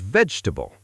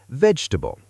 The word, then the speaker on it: vegetable: The word vegetable. Some learners say every syllable slowly. Native speakers often say vegetable.